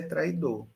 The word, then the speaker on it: traidor: Que a pronúncia é traidor. Você não pode dizer traidor, traidor. Ele não forma ditongo, ele forma hiato.